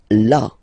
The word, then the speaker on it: là: Then là. So remember you've got this accent, but well, you don't pronounce it. Okay, so it's là.